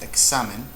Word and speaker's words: examen: Here we have examen. Examen. Examen. Exam is the stress syllable, so it's grave.